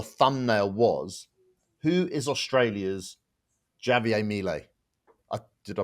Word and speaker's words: Javier Milei: We did a video, and the title, the thumbnail was, "Who is Australia's Javier Milei?" Did I pronounce his name right? You tell me. Javier, you got to roll the J.